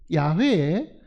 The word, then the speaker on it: 야훼: 하나님하고 여호와 하나님 혹은 야훼 우리말에는 양회라고 표현이 안 돼 있지만은 대부분 성경학자들은이 발음이 여호와라는 말보다는 야외에 가깝다고 생각하고 있습니다 자 여호와 하나님이라는 그